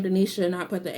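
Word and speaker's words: Dinisa: backstory my mom wanted my middle name to be like dionysia but she felt like people couldn't pronounce it or spell it which i felt like it's a middle name no one really cares but she changed it to denisha there's no h so growing up i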